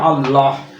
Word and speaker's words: আল্লাহ: আমি লিখলাম আল্লাহ আল্লাহ, এই হটা উচ্চারণ করে আল্লাহ, এটা কিন্তু কণ্ঠ থেকে উচ্চারিত হচ্ছে, এই জন্য এই আমরা হকে দিলাম হচ্ছে কণ্ঠধ্বনির মধ্যে, ঠিক আছে?